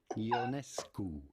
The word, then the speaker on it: Ionescu: How do you go about pronouncing her name correctly? Sabrina Ionescu.